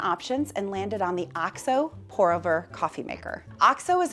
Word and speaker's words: OXO: One funny thing though, I have been calling it OXO for years now. And when I went to make this video, I looked up how the brand pronounces it and they said OXO.